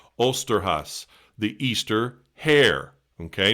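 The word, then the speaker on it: Osterhase: And red flag here, I'm going to mispronounce this. It comes from a folk tradition called Osterhas, the Easter hare.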